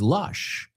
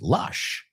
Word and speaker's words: lush: I was in Vigo, and it's lush, right? Lush. Lush rhymes with brush.